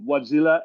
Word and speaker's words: Wärtsilä: is Andrew Lindberg who is the president of wadzilla energy is that did I pronounce it properly absolutely okay uh Anders uh